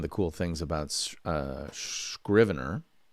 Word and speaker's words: Scrivener: cool things about uh scrivener which is pronounced scrivener not shrivener sometimes i miss make